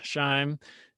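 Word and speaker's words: SHIME: intestinal microbiome ecosystem or do you folks in the scientific community pronounce that sheam or shine for short shine yeah so tell us a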